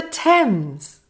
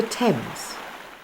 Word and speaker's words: Thames: It's the River Thames. Now some short sentences to practice the E sound. Repeat after me. Any eggs left, said Ken? No, not many. They're floating down the River Thames.